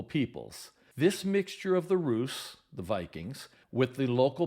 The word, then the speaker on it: Rus: of Sweden these Vikings were known as the Roose that's spelled r USU they explored and settled along